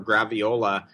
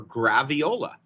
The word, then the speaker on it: graviola: You can get black sapote blended with soursop or graviola as a juice in glass at the market in Mexico City. Would you spell that word for us?